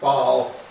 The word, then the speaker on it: Basel: Basel, both pronounced French Basel and German Basel.